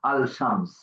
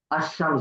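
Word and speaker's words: الشمس: আল উচ্চারণ হবে আরশামসিয়াতে আশশামস আমরা বলতে পারতে পারবো না আলশামস আশামস বলতে হবে আল আসবে না লাম ওযে সূরা ফালাকের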